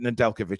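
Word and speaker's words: Nedeljković: only say that because there is a NHL ice hockey player with the same name, same spelling, and they pronounce it Nedeljkovic, so I'm going with that.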